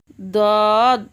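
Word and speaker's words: ض: দদ সামনের দাঁতের সাথে না লাগিয়ে মাড়ির দাঁতের গোড়া থেকে মোটাভাবে আদায় হবে, মাড়ির দাঁতের গোড়া থেকে মোটাভাবে আদায় হবে, নইলে দাল অথবা জ অক্ষর আদায় হয়ে পড়া হারাম হয়ে যেতে পারে।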